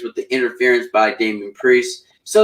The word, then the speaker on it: Priest: But right now we have Leon Ruff, Johnny Gargano, and Damian Price in a triple threat match for the NXT North American title. Actually, it's pronounced Priest. Price, you get the idea.